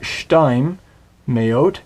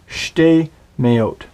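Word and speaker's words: שְׁתֵּי מֵאוֹת: It's not shtaim meot, it is shtei meot.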